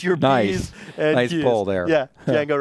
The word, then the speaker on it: Django: p's nice there yeah Jango right because most people would think that's a j but it's actually DJ a n g ojango Django was his Amo